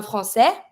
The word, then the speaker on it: français: Un français, I don't pronounce the S.